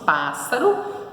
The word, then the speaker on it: pássaro: Isso, pássaro e indígena. Muito bem. Proparoxítona, que tem a sua sílaba tônica na antepenúltima sílaba, né? Ó, pássaro. E o acento ali, a sílaba tônica está no pá.